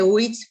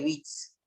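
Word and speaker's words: Witz: chiste en alemán bits no se dice bits porque no es una palabra inglesa se dice bits yo trabajé leí la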